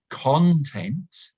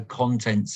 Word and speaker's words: content: changing stress that is this word can be pronounced in two different ways content which means what is inside something the contents of a book or the contents of your bag for example but if we put the stress on the second syllable content then it becomes an adjective which means happy content this is similar